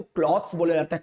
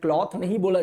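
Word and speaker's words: clothes: तो इस वाले को क्लॉथ्स बोला जाता है, क्लॉथ नहीं बोला जाता, इसको बोला जाता है क्लॉथ्स।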